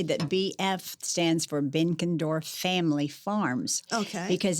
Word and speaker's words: Benkendorf: Hi, I'm here with Benkendorf. Am I saying it correctly? That's close, Elishea. It's Benkendorf. Benkendorf.